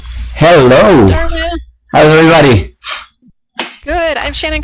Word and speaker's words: Darwin: If you don't know how to pronounce it, it's just like Charles Darwin, the evolution guy. So Darwin.